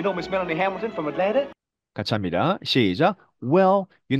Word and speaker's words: Atlanta: 네, 애틀란타인데 Atlanta 이렇게 발음하고 있습니다. NT 발음 보이시죠? 그래서 NT의 T 발음이 빠지면서 Atlanta 이렇게 발음이 되는 겁니다.